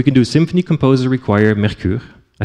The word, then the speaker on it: Mercure: It's French, Mercure. I'm saying it right.